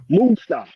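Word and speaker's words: Moussa: name mixed up what how do they pronounce it Musa Musa okay M uh oh who's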